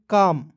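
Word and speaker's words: calm: मीस होता है चिलाना सी ए एल एम काम देख एल को इसमें साइलेंट कीजिएगा क्या पढ़ेंगे काम पढ़ेंगे ठीक है सी ए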